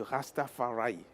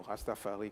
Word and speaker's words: Rastafari: mai jour mondiale du Rastafaray. Bon prononcer comme les anglais ou Rastafari comme les français.